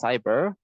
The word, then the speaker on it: cyber: with an S uh the way you pronounce it is just like an S so it's cyber in this case uh